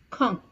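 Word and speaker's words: quand: d which means Ben now please pay attention to the pronunciation it is K Kong okay now similarly you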